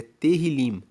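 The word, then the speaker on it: תהילים: No hebraico, Salmos é terrilim. Ele se escreve t E h i l i m.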